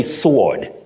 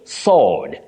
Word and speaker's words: sword: yes we innocently say sword sword no the W in this word is silent just like in the word answer bet do we say